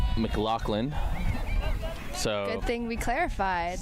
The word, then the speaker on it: McLaughlin: It is pronounced Mclaclin.